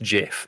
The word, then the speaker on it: GIF: culture and the internet his speech was three words long it's pronounced jiff and what's off stage